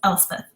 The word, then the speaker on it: Elspeth: So in case you're wondering, it's Elspeth.